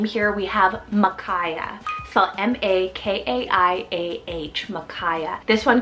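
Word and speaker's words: Makaiah: kind of a Biblical name here we have Makaya so m-a-k-a-i-a-h Makaya this one could definitely be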